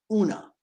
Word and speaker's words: Oonagh: Now, your wife's name is Una. Spelled OONAGH. But that's how you but that's correct pronunciation, right?